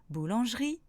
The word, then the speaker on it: boulangerie: Par contre, il ne se prononce pas quand il est à partir de la deuxième syllabe du mot, comme dans samedi, boulangerie, projeter.